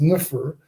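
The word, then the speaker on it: nfr: They had this thing which is pronounced nufr, meaning beautiful or good.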